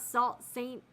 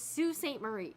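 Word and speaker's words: Sault Ste. Marie: sew or craft okay that's pronounced Sue okay so it's not Sal Saint so it's Sue St Marie okay thank you for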